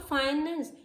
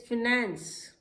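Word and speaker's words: finance: इट इज़ नॉट फाइनेंस, इट इज़ फिनेंस. फिनेंस, फिनेंस.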